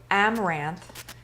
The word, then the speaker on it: amaranth: flour i used a half a cup of amaranth it's spelled a-m-a-r-a-n-t-h amaranth flour it's a whole grain